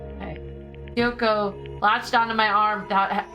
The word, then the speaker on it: Kyoko: Think like Kyoto, but with a K. Okay. Kyoko latched onto my arm without hesitation.